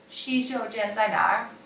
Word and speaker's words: 洗手间在哪: 洗手间在哪?